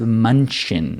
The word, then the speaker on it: München: Munich is pronounced München. Right, so a eunuch in like a German eunuch is would a be Yunchin.